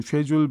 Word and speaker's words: schedule: 뭐 쉐줄 발음도 많이 나오죠. 영국 호주 발음으로. 그래서 시간을 내가 바꿔서 어쨌든 높으신 분이 하니까 가야 될 것 같아. 이런 부류도 답이 잘 돼서 schedule, reschedule 또는 schedule, reschedule